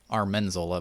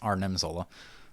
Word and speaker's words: Arnim Zola: Well, make sure you leave comments when I mispronounce characters' names wrong because I always thought it was Armin Zola, but it's Arnim Zola.